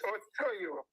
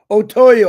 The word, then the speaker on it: Otoyo: Okay, Otoyo, the floor is yours, brother. It's Otoyo. Otoyo, I apologize. Yeah, that is how to pronounce it.